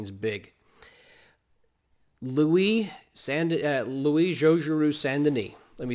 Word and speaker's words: Luis: big louis sandy uh luis joshua sandini let me spell him right quick right quick for your notes l-u-i-s it's not lewis like the the king louis sandini is going to